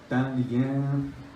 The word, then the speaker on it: Thanlyin: Now in Thabarwa, Yeikthar, Thanlyin, the correct pronunciation, Thabarwa, Yeikthar, Thanlyin.